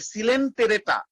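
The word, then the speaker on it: Coelenterata: সিলেন বানানটা কিন্তু এরকম, COELEN, তারপরে TERATA, সিলেন্টেরেটা।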